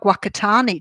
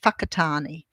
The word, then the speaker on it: Whakatane: because it looked like Wakatani to me because of the way it was spelled. But they actually pronounce it Whakatane with the WH.